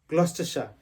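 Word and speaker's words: Gloucester: সঠিক উচ্চারণ হবে গ্রেনিচ আরেকটা জায়গা হচ্ছে গ্লস্টে সেটাকে আমরা অনেকেই ভুল উচ্চারণ করে থাকি বাট এটা হবে গ্লস্টে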